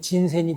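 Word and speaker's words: 仁川: 인천을 일본 발음으로 읽으면 진센이 돼요.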